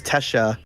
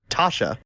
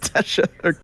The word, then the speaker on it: Tesha: sister her name is Tesha it's pronounced like Kesha with a t and she goes Merry Christmas to your sister Tasha which is pronounced Tesha like Kesha with the